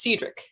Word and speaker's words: Cedric: I've been told it's pronounced Cedric.